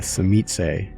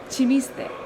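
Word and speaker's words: Tzimisce: I pronounce it as chimiste, which is like, sounds a little bit Spanish. Cimiche. Yes. Today's word is zimishe.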